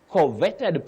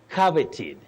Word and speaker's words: coveted: our surprise word for tonight mhm this word converted prize no you don't say converted that is what our eyes see in terms of the orthography that is the spelling when you pronounce it you say coveted coveted you can see the phonetic transcription below